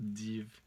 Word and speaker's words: div: Et donc le V n'est pas un U, une voyelle, mais une consonne. Et on prononce div, div, la divinité.